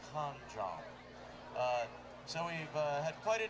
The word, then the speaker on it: Can Jam: By the way, it is Can Jam with a K, and it's pronounced Con Jam.